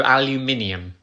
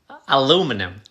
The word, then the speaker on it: aluminium: aluminium it's a metal aluminum no aluminium aluminum you're losing a syllable aluminium aluminum how are